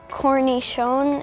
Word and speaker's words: cornichon: My winning word was cornichon. It's spelled C-O-R-N-I-C-H-O-N.